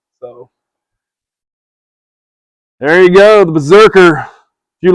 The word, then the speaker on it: BRZRKR: Um, ladies and gentlemen, The Berserker, and it is spelled weird.